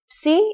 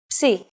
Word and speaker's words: Psi: If you ever forget how to pronounce this letter, just remember, Psi is for Poseidon and his trident. It is handwritten like this. Psi.